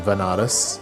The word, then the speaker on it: Banaras: ended up going to banaras which is a place in india sometimes pronounced as vanaras which is a place